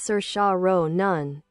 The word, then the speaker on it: Saoirse Ronan: Cersa Ronin, biography. Cersa Ronin, pronounced Sir Shao Nun, is an Irish American actress born on April 12th, 1994 in the Bronx, New York City.